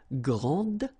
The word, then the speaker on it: grande: And regarding the feminine form, you will pronounce it grande. Okay, don't insist on the final E, but then pronounce this D, grande, and then exactly the same pronunciation, grande.